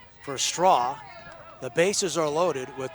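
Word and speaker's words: Strauch: Kind of a unique spelling. It's straw, but it's spelled S T R A U C H.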